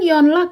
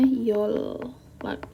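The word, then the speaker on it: 연락: Oke, bacanya kan yonlak ya, kalau seandainya kita membaca sesuai dengan fitrahnya gitu. Tapi karena N ketemu L, N ini diubah menjadi L, jadi bacanya yolak.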